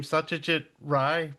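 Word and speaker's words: Satyajit Ray: to say his name Satajit Ry briefly if that did I say that well enough. Well is Bengali and Rey is the way people who are not Bengali pronounce his name but we've got it completely right.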